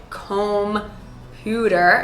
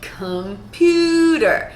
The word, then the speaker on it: computer: I don't say computer, I say computer. So we have that in the first syllable because the second syllable is so stressed.